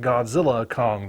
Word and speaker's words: Godzilla x Kong: have the trailer for Godzilla xcong the new Empire although apparently you're not supposed to pronounce the X so it's just Godzilla Kong the new Empire well whatever it winds